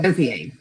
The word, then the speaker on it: Gauthier: Gauthier, is that how you pronounce it? Gauthier? Yeah, Gauthier.